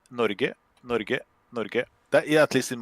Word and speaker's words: Norge: Let me hear. Nudge. That. Nudge. We say Norge. That, yeah, at least in my dialect. Nando's, if he speaks what I think. Norge.